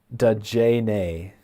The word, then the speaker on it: Dajane: Dajane is how it's pronounced. Thank you very much, Dajane, or Dajane. It's DAH hyphen JAH hyphen NAY.